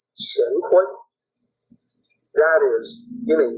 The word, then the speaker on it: Qian: So remember, Pinyin is a little bit funky, so Qian is actually Chin. You would pronounce it as if it was spelled Chin.